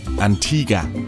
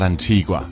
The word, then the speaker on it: Antigua: That was before I learned that it's pronounced Antigua and not Antigua, which is what you would think when you see it in writing.